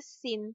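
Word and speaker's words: 心: Ini bacanya sin.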